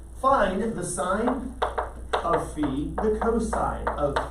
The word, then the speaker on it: phi: the greeks liked philosophy that sound is actually the fee find the sine of phi the cosine of v